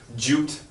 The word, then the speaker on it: duped: I think if we were to say it, we would say duped. Duped. Duped. Yeah, with a U pronunciation.